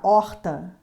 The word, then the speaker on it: horta: cvrn sorvete srvt observação a letra h não é consoante porque ela sozinha não tem som por exemplo horta quando você pronuncia a palavra horta Você nota que a